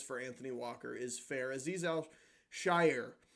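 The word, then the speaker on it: Azeez Al-Shaair: Anthony Walker is fair aiz Al Shire I believe is how you say it gets a b um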